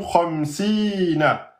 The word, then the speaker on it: khamsin: Et le noun, on s'arrête sur un noun soukoun, mais pas qalqala. Donc ne dites pas khamsin. Non. Khamsin. On garde le point de sortie, donc on garde la langue sur le palais et on laisse finir le son.